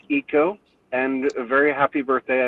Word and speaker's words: Aiko: It's pronounced Eco, and a very happy birthday.